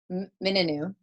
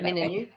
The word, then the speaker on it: Mingenew: So now you came from a small town in Western Australia, Mingenew, right? Yep, Mingenew.